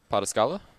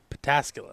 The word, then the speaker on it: Pataskala: Hold on, how did you just pronounce that? Pataskala? Pataskala.